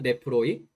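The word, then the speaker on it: νεφροί: 이 카르디아가 마음이고 의지, 이성, 결단을 의미하기도 하고 이게 네프로이라고 읽거든요. 네프로이.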